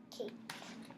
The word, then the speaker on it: Kate: Kate. Kate. Good job. Her name. So let's look at it. Kate. The A is long, followed by a consonant and our silent E.